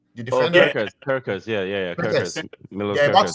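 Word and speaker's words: Kerkez: Liverpool is about to sign Kekeres. Let's. No. Oh. Kekeres from Bournemouth? Yeah. Did I say his name correctly? The defender? Kirkers.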